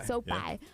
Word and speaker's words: SoFi: Yeah, SoFi.